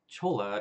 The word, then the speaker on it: cholla: It's cholla as in soy, like the sauce.